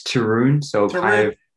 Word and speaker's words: Taryn: Yep, it's Taryn, so kind of rhymes with broom.